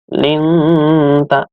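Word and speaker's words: لِنْتَ: Lalu yang berikutnya, linta. Linta. Bacaan ikhfa, artinya samar-samar. Di sini ada nun mati bertemu dengan huruf ikhfa, yaitu ta. Artinya seakan-akan nanti mau masuk ke huruf ta. Linta, linta.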